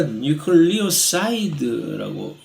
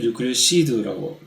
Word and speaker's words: 뉴클리오사이드: 근데 많은 경우에 뉴클리오티드가 아니라 뉴클리오사이드라고 한국말로는 이것을 뉴클리오시드라고 발음을 하는 모양인데, 아니 뉴클리오사이드는 뉴클리오타이드하고 뭐가 다른 거지?